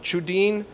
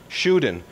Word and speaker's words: Tschudin: is pronounced in Switzerland chudin uh would be the family name but in America we don't pronounce the T and it's normally called a shuin uh but it's actually